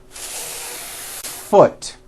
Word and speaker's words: foot: the F sound for the First full beat foot like that do it again foot do you